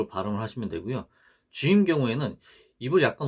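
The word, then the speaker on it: حاء: 요 하 경우에는요 발음이 우리 그 창문 닦을 때 목구멍에서부터 하 하잖아요. 힘을 빼고 이러한 음가입니다. 하 이런 식으로 발음을 하시면 됩니다.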